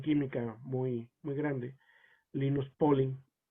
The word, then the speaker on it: Linus Pauling: que muy muy grande linus pauling lines polling en realidad es como se pronuncia y el desarrollo por primera